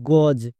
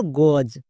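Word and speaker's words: goes: এর জন্য দন্ত স করব না, বর্গীয় যোগ উচ্চারণ করব। যেমন ডাজ। একই রকম ভাবে জি ও ই এস কি হবে? গজ, কারণ এখানে দেখো ই এর পরে এস আছে, তার মানে এস এর জন্য বর্গীয় যোগ হবে।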